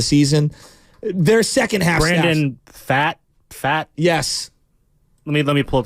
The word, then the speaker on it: Pfaadt: Their second half Brandon Fat? Yes. Let me pull up the pronunciation.